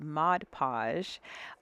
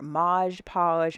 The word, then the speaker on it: Mod Podge: Let me make sure I say it right, Mod Podge. Um and y'all guys ate me up in the comments, honey, by like mis- mispronouncing that word. Maj Podge, Mod Podge, pat a patage.